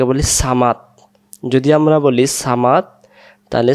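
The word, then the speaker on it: صمد: এখানে আমরা বলবো আল্লাহু সমাদ। এইটাকে আমরা অনেকে বলি সামাদ। যদি আমরা বলি সামাদ, তাহলে সদ অক্ষরের জায়গায় সিন অক্ষর উচ্চারণ হয়ে যাচ্ছে, তাহলে এখানে আমরা বলবো আল্লাহু সমাদ আল্লাহু সমাদ।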